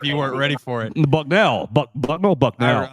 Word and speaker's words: Bucknell: ear hard if you weren't ready for it Bucknell buckell buckell I like it look he should